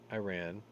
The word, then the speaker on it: Iran: it believes i ran i ran i ran so far away wow let me do it correctly the white house says it believes iran that's that's the way that's the proper way to say it is planning to supply